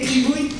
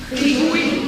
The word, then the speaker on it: Gribouille: It's a bit difficult to pronounce. Can you say Gribouille? Gribouille. Yeah. Just because gris means grey and bouille, it's a way to say face. So it's like grey face.